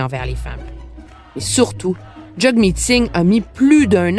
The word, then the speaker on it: Jagmeet: pas Jagmeet, c'est Jagmeet. Exactement. C'est jug comme hug en anglais.